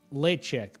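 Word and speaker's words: Ledaig: It's pronounced lechic, but that's okay. No one gets that the first time seeing it.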